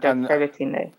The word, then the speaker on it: Sebutinde: You said you were working with, it's Sebutinde, is that how it's pronounced? Judge, yes, Judge Sebutinde.